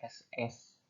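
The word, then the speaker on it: ß: itu seperti lambang beta dan Beta dibacanya SS Hai bacanya SS kepada Jerman negara-negara industrial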